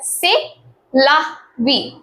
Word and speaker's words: c'est la vie: It is a French word and it is pronounced as c'est la vie.